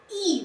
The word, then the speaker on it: y: E, that is why, that's how it's pronounced, E.